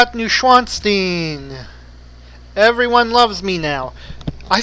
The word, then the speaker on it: Neuschwanstein: W in German is pronounced like a V. So, this actually should be pronounced closer to Neuschwanstein, or Neuschwanstein.